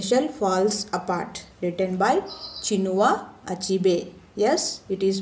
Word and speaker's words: Chinua Achebe: The name of the lesson is The Shell Falls Apart, written by Chinua Achebe. Yes, it is pronounced as Chinua Achebe.